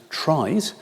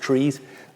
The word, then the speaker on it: trie: There are trees spelled t re e and there are also trees spelled t r i e which some people pronounce tries.